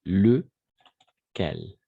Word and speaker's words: lequel: Lequel. En effet, lequel. Attention, le E fermé, d'accord? E fermé, lequel, lesquels. Il y a une différence, n'est-ce pas? Lequel, de la même façon, E fermé, le et les.